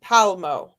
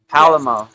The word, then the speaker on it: Palmo: So it's Tanzine Palmo. So Palamo. Is that what I said or we I guess it's no pala. It's just palmo. Palmo. Palmo.